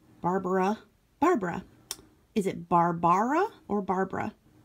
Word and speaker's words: Barbara: Is it Barbara or Barbara?